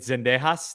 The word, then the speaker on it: Zendejas: three points and um is it Zendejas that's how you pronounce it he had a great